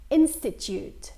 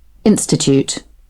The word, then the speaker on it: institute: اول فرق هو نطق حرف اليو بهالكلمه. بالبريتش انجلش صوت تي يو، صوت اليو بيتحول الى صوت ي. اوكي، يو. بينما باللغه الانجليزيه الامريكيه هالصوت بيكون او، ما بيكون يا.